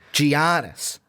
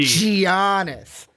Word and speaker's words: Giannis: Giannis. That's what I'm gonna do. That hard G. Giannis.